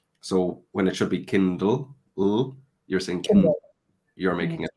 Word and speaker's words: Kindle: end of a word you're pronouncing it like a w instead of like an L which is also quite typical of um Chinese students so when it should be Kindle you're thinking you're making